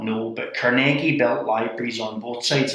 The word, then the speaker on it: Carnegie: Can you quickly share about and you say it's not Carnegie, it's Carnegie, is the proper way of pronouncing it.